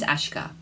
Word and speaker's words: Aśka: My name is Aśka. That is spelled ASKA, but there's a little line above the letter S which gives it that special sh sound.